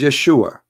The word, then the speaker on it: Yeshua: pronounce the correct word the correct word in the Hebrew is Yeshua as simple as that so